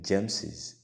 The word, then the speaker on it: James's: to add s and the pronunciation won't be gems it's going to be james's all right so i'll